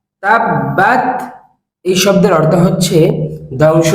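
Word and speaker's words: تَبَّتْ: শাইতানির রাজিম বিসমিল্লাহির রাহমানির রাহিম তাবত তাব্বাত তাব্বাত এইভাবে করে আপনি 10 বার বলুন এই শব্দের উচ্চারণ হচ্ছে তাব্বাত তাব্বাত এই শব্দের অর্থ হচ্ছে ধ্বংস হোক শব্দটি আমার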